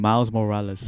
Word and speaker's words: Miles Morales: Okay, let me pronounce his name. Miles Morales.